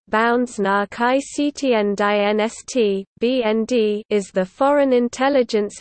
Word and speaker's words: Bundesnachrichtendienst: The Federal Intelligence Service German, Bundesnachrichtendienst, German pronunciation, Bundesnachrichtendienst, BND, is the Foreign Intelligence Agency of Germany, directly subordinated to the Chancellor's Office.